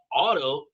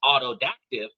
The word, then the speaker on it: autodidact: And it's actually spelled autodidact. AUTODIDACT, not autodactive. I can pronounce autodactive, but autodidact is completely different.